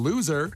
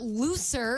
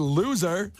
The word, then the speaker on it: loser: golden ticket by texting loser to 312-591 not looser I said loser loser loser not looser than you know screwing